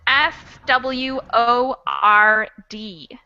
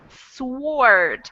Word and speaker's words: sword: everyone to see it's s w o r d sword it's spelled sword but not pronounced with the w the w is another